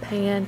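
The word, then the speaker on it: panne: fig it's a stretch i think you pronounce that pan p-a-n-n-e i think that's what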